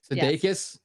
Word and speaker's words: Sudeikis: Sudeikis, how you pronounce?